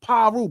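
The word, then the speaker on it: Piru: on Pyu blood. Bmpton. First off he was saying bmpton but he wasn't saying bmpton. You know, like the average person be like on Pyru. Like they pronounce the I.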